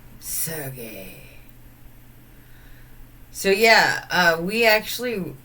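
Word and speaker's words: Sergei: Chels would call him sergy but it's pronounced surgey so yeah uh we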